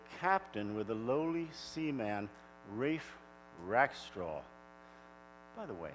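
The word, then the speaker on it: Ralph: mixed up the captain with the lowly Seaman Rafe rack straw by the way that name Rafe spelled r-a-l-p-h but it's pronounced Wraith why do I ask the English and oh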